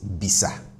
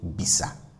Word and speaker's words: bisa: Now you see the ah at the end. I'm pronouncing that as a a regular a which is minus atl. So I'm saying bisa bisa, not bis, right? I don't say bis.